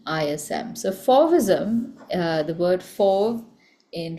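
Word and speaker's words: Fauvism: It's spelled f a u v i sm. So fism uh the word for in French is uh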